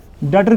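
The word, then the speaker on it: debtor: डेटर किसे हम कहते हैं? ठीक है? इसमें बी साइलेंट रहेगा। ठीक है? डेटर।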